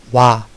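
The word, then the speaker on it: は: 와. 어, 하라고 읽는데 조사를 쓰일 때는 와라고 읽습니다.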